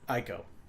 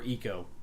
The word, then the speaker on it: ICO: to play ICO but ICO or eco depending on how you pronounce it my goodness and it